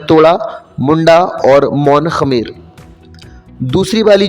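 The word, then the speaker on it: Mon-Khmer: टूट गई मुंडा और मौन खमेर प्रोनाउंस इसको हम ऐसे ही करते हैं लिख हैं एम ओ एन के एच एम ई आर तो जो हमारी ऑस्ट्रो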